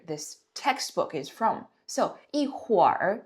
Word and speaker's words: 一会儿: Okay, so pay attention to the pronunciation here. If we break it down, it's 一会儿, right? So 一会儿, but you didn't hear me read it like that, right? I kind of connected them and I combined the pronunciation to become 一会儿, right? So this is how you read the R in a sentence.